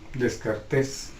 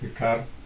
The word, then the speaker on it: Descartes: Por lo tanto, Descartes, René Descartes, algunos le dicen Descartes, pero está mal pronunciado, su nombre correcto es Descartes.